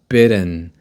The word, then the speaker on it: bitten: past participle form is bidden bidden because it's American English we pronounce it like flap d right bid bitten I